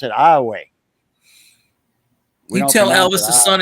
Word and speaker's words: Iowa: spelled just like that spelled Iowa but we pronounce it Iowa you tell Elvis the son is gray he'll